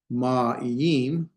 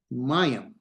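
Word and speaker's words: מים: This is not ma'im. This is mayim, one sound in the vowels. And that's a diphthong.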